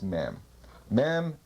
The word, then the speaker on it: mem: open up from the inside from within that's mem pronounced m means water C mother in Hebrew as